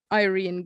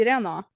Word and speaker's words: Irene: When I meet people that are not natively Norway people or something, they're foreign language, another language than Norway, and I say my name is Irene, they say Irena. They think it is they always think it is an A at the end.